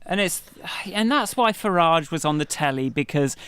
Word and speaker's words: Farage: And I favour Farage as a pronunciation. Oh, do you? Okay, Farage. I feel like I'll take that. Farage. Farage. I Bill Farage is far too French for somebody.